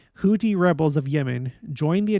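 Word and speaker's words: Houthi: week the Iran backed houti sorry houti that's how it's pronounced houti rebels of Yemen join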